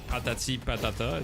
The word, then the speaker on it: Patati Patata: It's a play on word of potato, because in French potato is patate, so patati patata. Just like potato.